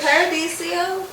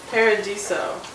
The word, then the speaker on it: Paradiso: co37 at disney's friendship is it paradisio or paradiso paradiso so i've been singing wrong the whole time but i've been saying it right okay we're into paradiso 37.